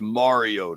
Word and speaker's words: Mariota: I think people are pronouncing it with like a soft A and it's more of a hard A. Like think about Super Mario Super Mario Brothers. Whenever you know somebody named Mario Mario.